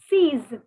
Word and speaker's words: seize: See, the spelling for 6 is same only. Only the pronunciation is seize.